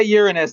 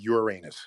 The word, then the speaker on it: Uranus: it's a quick thing and when you say uranus that is the correct pronunciation yes unless you're eight years old yes